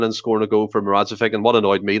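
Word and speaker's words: Moravčík: and what annoyed me, the commentator kept getting Moravcik's name wrong. Coming from me, but it just annoyed me hearing that. It was he kept calling him Mo-cheek or something like that.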